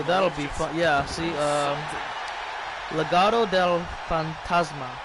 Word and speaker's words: Legado del Fantasma: Yeah, see, Legado del Fantasma. There we go. That's how you say it.